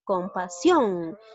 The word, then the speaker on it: compasión: Debe decir compasión. ¿Dónde lleva la mayor fuerza de voz? Lleva en la silabación, también en la última sílaba. Por lo tanto, es una palabra aguda.